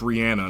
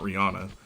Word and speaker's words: Rihanna: You know, Rihanna recently did, and yes, it's pronounced Rihanna, not Rihanna, did a makeup thing with, my favorite model, Carmen Lee Solomon.